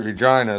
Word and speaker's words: Regina: Yes, that's right, Regina, the place that rhymes with fun.